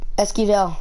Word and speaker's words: Esquivel: Esquivel, my last name. You want me to spell it for you?